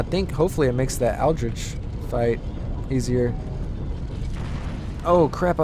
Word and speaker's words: Aldrich: That's how you say his name, Aldrich.